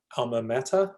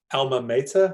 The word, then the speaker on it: alma mater: It's actually a Latin term. It's called alma mater or alma mater or alma mater. There are different ways of pronouncing it.